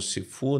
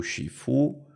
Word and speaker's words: shifu: quando você coloca o termo sifu na frente do seu nome ou shifu como a a a pronúncia mais eh acertada né Eh o chifu